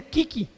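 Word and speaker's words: 危機: bueno hace gracia que crisis en japonés se pronuncia kiki y dice que se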